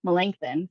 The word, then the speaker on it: Melanchthon: small meeting spaces on campus, such as the Melanchthon room. That's how you say that word, Melanchthon. I could not pronounce it correctly pretty much the entire time